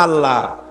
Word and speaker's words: আল্লাহ: বোধ নিশ্চয়ই মনে আছে আল্লাহ এই উচ্চারণটা আমাদের অনেকের হয় না কেউ বলে না আল্লাহ আল্লাহ পাকের উচ্চারণটা হচ্ছে আল্লাহ পাকের নাম হচ্ছে আল্লাহ মুখটা একটু গোল হয়ে যাবে বলেন আল্লাহ আল্লাহ পৃথিবীতে বিভিন্ন জাতি তার স্রষ্টাকে তারা যাকে স্রষ্টা মনে করে বিভিন্ন নামে ডাকে।